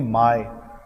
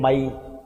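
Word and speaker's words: my: इसे प्रोनाउंसिएशन देखो, माय, लोग बोलते हैं माई, माई नहीं बेटा माय, माई नहीं माय।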